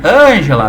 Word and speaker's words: Ângela: nossa parte da prosódia muita gente já sabe que angela quando se pronuncia ângela vem cá precisa falar